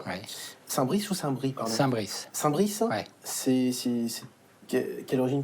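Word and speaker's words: Saint-Bris: Hugues, vous êtes Gonzague Saint-Brice. Oui. Saint-Brice ou Saint-Brie, pardon? Saint-Brice. Saint-Brice. Ouais. C'est quelle origine? Parce que je me suis renseigné, on m'a dit qu'on ne prononçait pas toujours le S.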